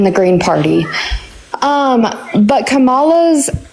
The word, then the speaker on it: Kamala: green party um but kamala's Kamala is how you pronounce her name I don't care it's